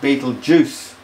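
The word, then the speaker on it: Betelgeuse: pronounce it ryal serus Beetle geese pronounced Beetle Juice Elder Baron okay so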